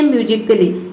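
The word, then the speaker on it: musically: यदि ए के बाद डबल एल वाई आ जाए तो ए जो है वह साइलेंट रहता है। जैसे कि देखिए, यहाँ पे है म्यूजिकली, इसमें ए के बाद डबल एल वाई आ रहा है तो इसमें ए जो है वह साइलेंट है।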